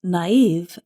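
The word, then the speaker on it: naïve: Naive is spelled N-A-I-V-E, and we put 2 little dots above the letter I to show that we pronounce that vowel separately.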